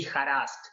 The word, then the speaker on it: Joras: It would be harassed. So in Spanish, the J would be pronounced like an H in English.